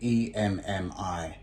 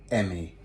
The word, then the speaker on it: EMMI: And at the back, I've got the Metroid Dread, Samus, and EMMI, or Emmy, however you want to pronounce it or call it.